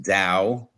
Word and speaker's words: Tao: book the book and and the reason it's pronounced Dao uh Tao is Da which means the way